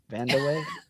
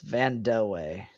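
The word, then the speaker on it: Vandeweghe: Vanderway. Okay, it's Van. It's Vanaye.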